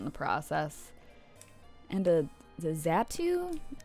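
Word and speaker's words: Xatu: process and the the zatu I think that's how you pronounce it x a t I never knew how to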